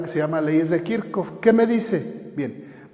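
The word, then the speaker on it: Kirchhoff: se llama leyes de kirkuk se escribe así kirch pero se pronuncia kirk con esas leyes es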